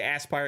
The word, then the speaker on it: Aspyr: it's interesting right um Jasper says I'm still saying it wrong Aspire this is a word Aspire definition direct one's hopes or Ambitions toward achieving something well they don't spell it like that they spell it like asper they spell it with s-p-y-r there's no e at the end they're confusing me with their spelling uh cleverness right so I'll I'll say Aspire it's like the it's